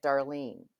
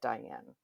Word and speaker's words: Diane: My name is Diane with a pause. Darling, if I don't put the pause in there, I get Darlene. I don't get Diane.